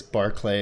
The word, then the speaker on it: Barclay: are gonna hate this Barclay is actually pronounced Barclay I believe it yeah called the Barclays Center that's spelled the same way Charles Gnarls Barkley shut